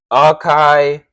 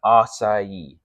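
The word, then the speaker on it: açaí: to tell you guys the wrong way to say it aai ai etc. There's so many. And this is what I'm saying. I've seen I'm like, guys, the correct way is how I'm saying it. Asai.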